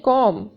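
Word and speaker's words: comb: कंघी को इंग्लिश में कहते हैं कॉम। बी साइलेंट है।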